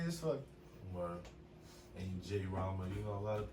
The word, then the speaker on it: Jrama: My name is Jrama. Drama with a J.